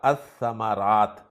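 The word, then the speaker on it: الثمرات: समरात पर जब अलिफ लाम दाखिल किया जाएगा तो लाम को नहीं पढ़ा जाएगा और लफ्ज पढ़ा जाएगा अस-समारात।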